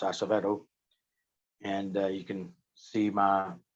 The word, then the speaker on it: Acevedo: They can catch me on Instagram under the same name, Acevedo.